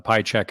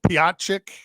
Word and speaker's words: Piatchek: And most people, I think, pronounce it Piatchik. I've seen Piatchek, yeah, Piatchik. But yeah, just Piatchek. There's a T in there that you might not hear.